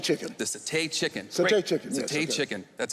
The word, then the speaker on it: satay: Sauté chicken. The satay chicken.